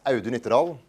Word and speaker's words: Audun Ytterdal: My name is Audun Ytterdal, pronounced like how you doing really quickly.